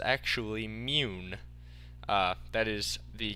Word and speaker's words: Mun: It's actually mune. That is the correct pronunciation, mune. I heard that from one of the developers in a stream that I watched of the game. So, mune. I will try to call